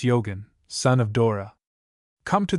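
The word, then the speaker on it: Eogan: FN number 15 pronounced Yogan, son of Dora.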